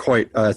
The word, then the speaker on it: Choyt: So the C is silent, and you are mistyping it if you begin his last name with an H.